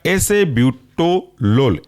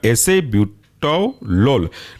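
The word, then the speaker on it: acebutolol: एटेनोलोल एल ओ L next example है आपका एसे ब्यूटो लोल एसे ए सी ई ब्यूटो बी यू टी ओ और एल ओ एल बन जाएगा आपका एसे ब्यूटो लोल नेक्स्ट एग्जांपल है आपका बसो प्रोलोल स्पेलिंग है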